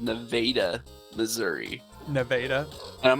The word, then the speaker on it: Nevada: just like, no, you Nevada. you're saying it wrong. It's Nevada.